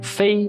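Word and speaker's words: 飞: take another example Fei in the first tone Fei it means to fly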